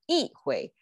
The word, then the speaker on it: 一挥: Okay, E is its normal pronunciation, but because a hui is also flat tone. So yi hui is kind of flat, bland. So we make it yi hui. So yi hui, 振臂一挥, instead of 振臂一挥. Okay, so that's just the sound tonation change in context.